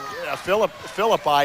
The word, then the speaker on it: Philippi: You know, they're minus a David Philippi is how you pronounce his last name, going to Kent State on a full ride in football, out with a stress fracture.